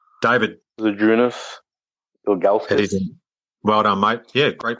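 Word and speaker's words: Žydrūnas Ilgauskas: Zadrunas Ilgauskas. Well done, mate. Yeah, great pronunciation too. Zadrunas Ilgauskas.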